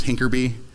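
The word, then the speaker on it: HINCRBY: You got like set add and like the H increment by for a hash increment by is hinkerby.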